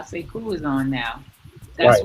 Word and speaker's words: Sekou: Oh, Sekou. Sekou. Say cool.